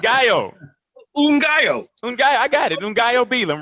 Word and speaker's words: Ngaio Bealum: You can't pronounce my name, huh? No, I got it. Ngaio. Ngaio. I got it. Ngaio Bealum, right? Ngaio Bealum.